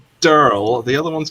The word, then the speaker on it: Daryl: Oh yeah, and both of them are they're both called names that they pronounce almost identically, and also pronounce the word squirrel the same way they pronounce the names. They're called, one's called Durl, the other one's called